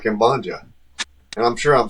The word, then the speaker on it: Ambanja: No, Ambanja is not actually completely wrong. It's Ambanja. But Ambanja is also completely okay.